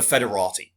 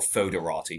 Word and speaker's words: Foederati: of them were, the Federati, as they become known as, the Federati, or Foederati, depending on how you want to pronounce it, which kind of translates to federates, which is kind of friends, in a way.